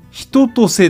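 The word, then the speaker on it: 春夏秋冬: 春夏秋冬と書いてひととせという名字の人がおります。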